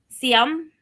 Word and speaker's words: Ziam: So this is uh Sum. I know it sounds weird, but that is how you pronounce it in Thai.